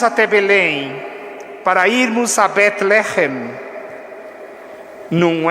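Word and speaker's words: בית לחם: Belém é o modo como nós, na língua portuguesa, chamamos a cidade da Judéia, que em hebraico se pronuncia Bet-Lehem. Bet-Lehem.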